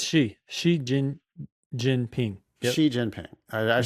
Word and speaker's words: Xi Jinping: It's Xi Jinping.